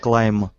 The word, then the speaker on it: climb: About climb, should I pronounce it without B at the end? Yes. Just climb. Climb.